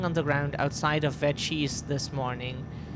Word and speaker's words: Vecchi: the ground outside of Vecchi's this morning. Vecchi. They pronounce it Vecchi, but we find that weird because that's Italian and that's not how it's pronounced, but like that.